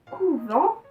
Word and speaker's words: couvent: dans cette expression, il y avait deux mots identiques à l'écrit mais leur prononciation est différente, voilà pourquoi Amélie a